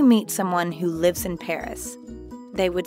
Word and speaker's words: Paris: apari at the end notice how the s at the end of paris is silent again let's practice repeat